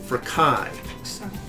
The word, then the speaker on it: chi: here, which is KS, a hard KS sound for chi. Now this one, which is actually chi, doesn't have an S on it.